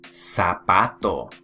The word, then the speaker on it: zapato: The Spanish word for shoe is zapato. Zapato, okay? But notice I did not say zapato. I said zapato, okay? So make sure that you remember to pronounce your Z's in Spanish like S's, okay?